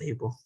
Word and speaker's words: Abel: okay yeah um uh my name is pronounced able able okay all right